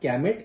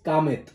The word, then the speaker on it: Kamet: से देख सकेंगे, many of the foreigners would pronounce it as Kamet. It is not Kamet, it is Kamet.